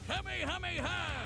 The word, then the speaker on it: Kamehameha: It helps that he knows so many cool combat moves, like the Kamehameha. An incredibly powerful finally, somebody pronounced it right, bro.